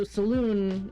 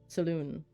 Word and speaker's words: Selûne: There's no little thing above the E, so Selûne is how I've always pronounced it.